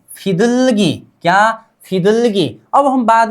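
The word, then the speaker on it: 비둘기: अब इसका नाम 'फिदुलगी' है। मूल। फिदुलगी' इसका अर्थ है 'कबूतर'। 'कबू', 'कबूतारा' क्या है? ?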